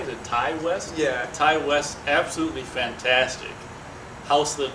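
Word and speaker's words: Ti West: Ty West, absolutely fantastic.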